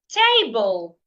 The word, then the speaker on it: table: if I have a word like table table B is a noun and it has two syllable T and B so because Cas it has two syllables and because Cas it is a noun I need to stress the first syllable which is why the first syllable is written in capital letter T the other syllable